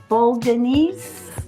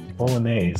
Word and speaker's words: Bolognese: So, well, it's kind of like a bologanese bol bolognese. Bolognese. Bolognese type. And I almost said it wrong.